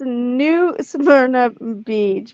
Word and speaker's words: New Smyrna Beach: I'm gonna make sure she pronounces these freaking beaches right too. Yes, it's New Smyrna Beach.